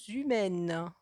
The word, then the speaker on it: humaines: Ici, entre le S et le U. Le H ne se prononce pas. Des constructions humaines.